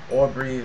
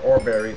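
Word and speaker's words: Oreberries: I'm so used to playing with the Tinker's Construct mod, which spawned Aubrey, Aubrey's or Orberries, as some of you pronounce it.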